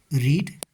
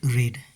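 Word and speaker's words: read: जैसे I have रेड a book, not, यहाँ पे रीड अ बुक नहीं कहेंगे, यहाँ पे कहेंगे I have रेड a book.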